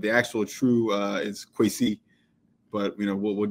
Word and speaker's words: Kwesi: So Diane, it's qui. Like that's how you actually say my name. Qui, but I don't I don't really put that on people. You don't put mom's mom's annunciation on people. So I just say, you know, like just like that.